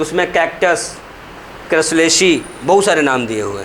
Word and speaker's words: Crassulaceae: चलो लिखो, cam plants लिख रहा है, देखो cam cycle CAM cam cycle was first observe in क्रैसुलेसी family, board पे स्पेलिंग लिखी हुई है, CRASSULACEAE, क्रैसुलेसी family, CRASSULACEAE, क्रैसुलेसी family, क्रैसुलेसी family, क्रैसुलेसी family.